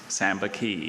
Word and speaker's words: Sambaqui: Sambaqui. Sambaqui. Are there any alternate pronunciations? No, just the one.